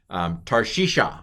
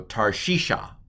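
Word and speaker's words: תַּרְשִׁישָׁה: What's the first vowel under the tav? It's a patak. What's the next vowel? It's a shava, but it's finishing the syllable, so it's a silent schwa. This syllable's closed. Tar. What's the next vowel? Piggybacking with the yod? It's a hirik yod. It's an E sound, transliterated as a long I.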